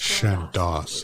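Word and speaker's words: Chandos: It's Shandos.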